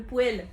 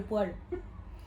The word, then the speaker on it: poêle: Le poê et pas le poil.